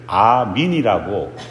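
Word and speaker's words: آمين: 믿습니다라는 뜻으로 아멘을 사용합니다 다만 그들은 아멘을 아민이라고 발음합니다 우리말 성경에서 아멘은 구약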